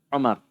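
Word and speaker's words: عمر: Kalau tidak ada wawunya, Umar. Jadi sini ada wawunya, jadi panggil Amr.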